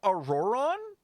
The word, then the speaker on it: Ororon: pretty far out there that's how that's how you say his name auroran oh I've been [